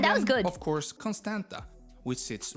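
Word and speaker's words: Constanța: was good of course Constanta which sits right Constanta it in it is still have the te have a little thing underneath which makes it a two instead of a t next to the Black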